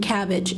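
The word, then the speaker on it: Kabbage: oldest online lender and cabbage is spelled with a K so um those are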